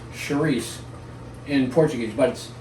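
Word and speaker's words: chouriço: slightly different c-h-o-r and in portuguese they they don't pronounce the last oh and they have a very soft ch so it's cherise in portuguese but it's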